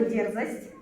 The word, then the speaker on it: дерзость: Но, однако, вам надо запомнить слово «дерзость» и то, что ударение ставится на первый слог, на букву «Е».